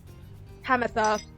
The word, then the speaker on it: Pamitha: Hamatha is the correct pronunciation, so I was right the first time.